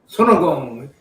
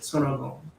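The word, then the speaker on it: 손오공: Sonogong. That's how Korean pronounce it. Sonogong. That's how the Koreans pronounce him? Yeah. Oh, nice. That's cool. Sonogong.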